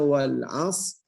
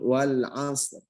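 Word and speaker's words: والعصر: Jadi kita baca wal as, ada ro-nya sedikit, setengahnya dari huruf tersebut wal asr.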